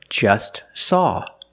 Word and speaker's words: just saw: Or just saw. We see the T is between consonants, so don't pronounce it. It's silent. Just saw. You link the S with the S. Link them together.